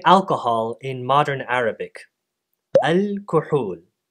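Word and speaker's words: الكحول: Al-kuhul. The word was reborrowed back into its mother language, this time with a long second vowel.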